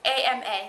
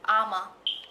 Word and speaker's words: Ama: And it's A-M-A. That's how you pronounce it. Ama.